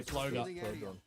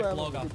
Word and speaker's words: Floga: We get the player pronunciation document and they say Floga. The Australian in me is just wanting to say Flogger.